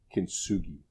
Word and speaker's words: kintsugi: a Japanese technique of apparently that is called kintsugi oh I think that's how you pronounce is probably in the wrong way that